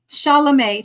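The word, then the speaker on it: Chalamet: Shalame, right, Tim Shalamé. Thank you, Dimmitra. I could not remember how how to pronounce it, but anyway.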